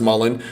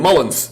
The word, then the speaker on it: Mullin: 92 Dream Team member, many former basketball players and peers of Chris Mullin pronounce his name Mullins. They just call him Mullins.